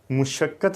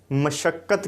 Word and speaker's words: مشقت: تو یہ وہی ہیں۔ مشقت نہیں کہیں گے بلکہ مشقت کہیں گے، مشقت اس کا درست جو ہے وہ تلفظ ہوگا۔ عموماً میڈیا میں بھی